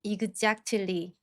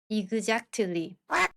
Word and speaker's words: exactly: 우선 앞쪽 C K 발음은 힘을 빼시고요. 뒤에 붙은 T를 댄 소리로 발음하면서 뒤를 부드럽게 끌어 주시면서 발음하시면 됩니다. 연습해 보겠습니다. Exactly.